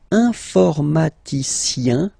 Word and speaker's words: informaticien: And the last group is IEN, informaticien, yin. So that's the way to pronounce this IEN, yin, okay?